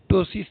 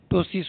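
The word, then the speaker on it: ptosis: First symptoms टोसिस देखने को मिलता है। पी साइलेंट रहता है। अर्ली सिम्टम्स ऑफ मलेस्थेनिया ग्रेविस तो बोलेंगे टोसिस होता है।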